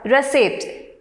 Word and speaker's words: receipt: Then the next word, receipt. The stress is on the second syllable.